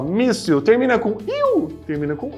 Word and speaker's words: míssil: Ó, míssil termina com il? Termina com il. Mas é missil? Não, é míssil, ou seja, é paroxítona, é a penúltima sílaba forte.